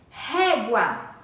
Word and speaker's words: régua: no início da palavra o r e Inicial régua ao iniciarmos a palavra usamos apenas um R mesmo tendo som forte saindo da garganta o ferro ferro possui